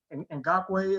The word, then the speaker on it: Ngakoue: I think that they can easily go with Matos here, but they do have Ngakoue is how you pronounce his last name.